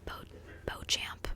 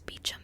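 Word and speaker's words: Beauchamp: on Hulu The Mysterious I always want to say bo bo champ but guess that's how it's spelled but the mysterious beum family lives in the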